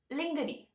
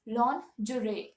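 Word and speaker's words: lingerie: i e okay so what people do is they pronounce it as they see it lingery which is absolutely wrong please don't do that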